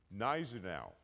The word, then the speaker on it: Gneisenau: Now, can anybody pronounce this guy's name? Gneisenau like the G isn't even there. This is General August Count von Gneisenau.